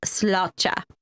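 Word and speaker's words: sláinte: s l a i n t but it's pronounced slota okay okay okay so there you go so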